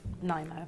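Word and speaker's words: Nymo: Is this pronounced Nemo or Nimo thread? Nimo.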